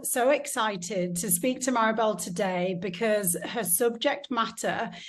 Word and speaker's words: Mariebelle: In French, you say Mariebelle. Mariebelle. How's that? Yeah, you got it. But yeah, there we go, a little bit French.